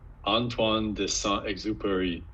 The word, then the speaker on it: Antoine de Saint-Exupéry: I don't really know how to pronounce it well. My French tells me it's Antoine de Saint-Exupéry.